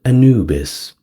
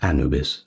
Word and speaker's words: Anubis: Well, now with the big five out of the way, we get to Anubis, or Anubis, however you want to pronounce it.